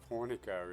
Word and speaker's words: Hornica: on on us so finally we get the pronunciation of hornica is actually hornica so there's something so